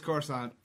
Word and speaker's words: Coruscant: It's Coruscant. It's pronounced all Any- the time in Old Republic.